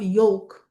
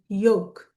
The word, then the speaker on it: yolk: Okay, this word is not yolk. Okay, this word is yolk.